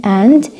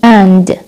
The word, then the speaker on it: and: Now the word مثل كلمة and، إذا بدي أحكيها بstrong form بحكي and، weak بحكي an أو an an، يعني بحكي you and me، بحكي you and me، you and me، you and me.